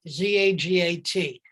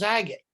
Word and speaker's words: Zagat: whose name that is said it is pronounced as that to rhyme with the cat.